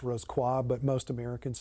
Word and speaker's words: Rosicrucian: focused on the Rosicrucian degree, or more properly pronounced Rosicrucian, but most Americans say Rosicrucian.